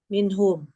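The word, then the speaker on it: منهم: Kalau dikasih min menjadi minhum. Bukan min him kan?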